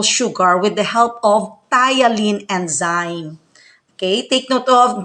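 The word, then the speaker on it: ptyalin: food to simple sugar with the help of thailand enzyme okay take note of the pronunciation of the word of the word spelled as p-t-y-a-l-i-n it's a thailand okay thailand enzyme when we say enzyme it is a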